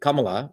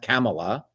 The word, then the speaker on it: Kamala: And that's how you say it, Kamala, with the Tamil Indian accent, not Kamala. It's Kamala.